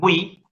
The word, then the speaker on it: oui: En la palabra oui, sí hay diptongo. Por eso, chicos, si ustedes consultan algún diccionario de francés que contenga información fonética, la palabra oui, el sí, se escribe con W y latina. Oui.